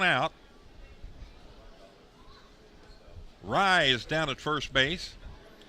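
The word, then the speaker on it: Rei: I'm mixing up Rye's name and calling him Ray because it's spelled R-E-I. The pitch. But his name is Rye, as in rye bread.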